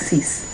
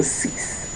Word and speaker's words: six: So ce was the best one to come up with cease. So cease. So not cement ce like how it is here in brackets.